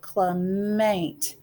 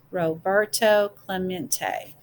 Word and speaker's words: Roberto Clemente: Roberto, let's see, Clement. It echoed in the near empty stands. Roberto Clemente was his name, and this is pronounced Roberto Clemente.